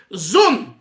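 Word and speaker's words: זון: Zayin Vav Nun is an acronym from zocher v'nekeva, and we pronounce it in Chabad and those that study Chassidus, zun.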